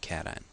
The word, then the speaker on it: cation: call that a cation please don't pronounce education this is a cation the number of protons